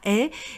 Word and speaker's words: haie: Vous voyez bien que ça s'appelle H aspiré, je n'ai absolument fait aucun son avec ma bouche, j'ai dit la haie et donc vous avez le H de la haie qui est complètement muet.